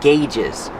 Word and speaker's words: gauge: On the instrument panel, you have a lot of different gauges. Pronunciation, gauge. Use the hard g and the long A, like say and pay.